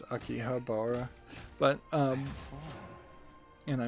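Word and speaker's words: 秋葉原: to akihabara uh yeah most people pronounce it akibara but actually it's akihabara but um and i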